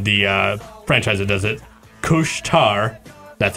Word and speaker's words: Couche-Tard: the pronunciation of the franchise it does it couche-tard that's how it's pronounced apparently franchising Quebec thought both entrees should